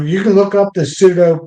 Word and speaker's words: pseudo: So you can look up the pseudo. It's PS O U D O Scorpio. Scorpion might silent P in the front.